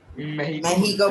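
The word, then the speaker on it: México: मेहिको बोलते हैं सर, आई मेहिको नो बोलते हैं, हाँ।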